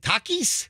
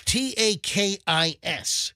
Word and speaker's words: Takis: the Latino Community right is it Takis Takis is that how you say it it's t-a-k-i-s that sounds right I've heard that right Takis